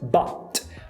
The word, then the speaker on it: but: O primeiro delas é com a palavra but, que originalmente teria o T. Então a pronúncia but.